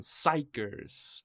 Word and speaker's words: Xikers: Pronunciation, Xikers.